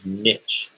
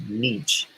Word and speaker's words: niche: of doing a niche is the way to pronounce that they used to say always say niche but i guess it's nietzsche and nietzsche um not covering the